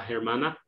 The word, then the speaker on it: hermana: hermanos the sister la hermana and the h is silent here so it's just hermanas